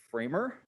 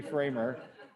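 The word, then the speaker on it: FraHMMER: Scale we end up with a tool called framer that's how you pronounce that it's definitely framer I don't care how you thought you were supposed to pronounce it it's definitely framer tell everybody you know it's framer and I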